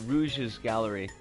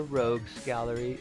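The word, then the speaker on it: Rogues' Gallery: mixture of Protags and Rouge's Gallery, or Rogue's Gallery, if we want to pronounce things correctly, which we don't.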